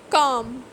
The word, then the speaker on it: calm: so you can see that i am not pronouncing the word the letter b silent l could calm half should talk palm would so same is